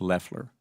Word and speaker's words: Loeffler: The administrator's last name is pronounced Leler.